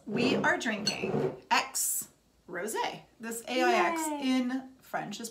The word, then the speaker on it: Aix: X we are drinking X rosy this in French is pronounced X like the X DoubleX chromosome like the ex-boyfriend oh yeah ex-boyfriend that